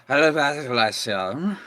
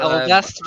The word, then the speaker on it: Alabaster: Well, you see, there was this letter, you see, and it was delivered to the Alabastulation. Alabaster. Alabastulation. No, you're saying it wrong. Alabaster.